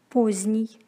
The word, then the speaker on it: поздний: З-д-н произносится как з-н. Например, поздний.